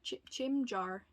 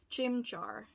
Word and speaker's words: Chimchar: to try to evolve my gym jar chim jar chimchar i can't pronounce it to save my life it's so bad chimchar yes that's it i'm so sorry beautiful